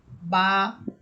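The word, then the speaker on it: ب: আরেকটি সিফাত হচ্ছে যে বা হরফ এটা শক্ত হরফ এটাকে আপনাকে একটু জোর দিয়ে পড়তে হবে বা বা এভাবে আচ্ছা এরপরে হরফ হরফ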